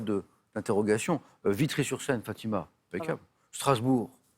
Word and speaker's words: Strasbourg: Vitri sur scène fatimacable Strasbourg c'est simple on dit pas Strasbourg certains le disent mais mais il se trompent vous l'entendez parfois